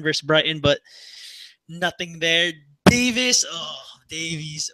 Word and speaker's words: Davies: Davies, or yeah, as the Brits say, Davis, because the Welsh people get mad.